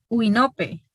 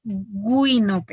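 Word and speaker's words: Güinope: Hay hablantes que podrían articular esta palabra o pronunciarla uinope. Y si hay o se da esa pronunciación, entonces la transcripción sería ui, así como se escucha, ¿verdad? Solo el dictongo y luego el resto. Si pronuncia uinope, entonces así. Pero Josué dijo guinope, entonces se escucha la G.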